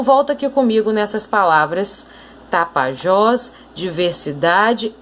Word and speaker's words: Tapajós: E em Tapajós? Última sílaba é a mais forte.